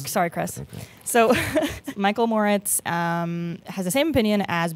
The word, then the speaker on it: Moritz: So from what I know, and correct me if I'm pronouncing his name wrong, but Michael Moritz, is that correct? Yeah, you got it. Michael Moritz, formerly of Sequoia.